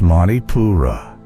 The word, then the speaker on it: Manipura: It is not soft, not fluid, but burning, rising from your solar center, the third chakra, known as Manipura, pronounced Mani-Pura, the city of jewels.